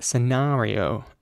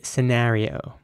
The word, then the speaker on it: scenario: is spelled s-c-e-n-a-r-i-o and the word is pronounced scenario in British English once again with an R sounding a and in American English it would be scenario scenario here's an example of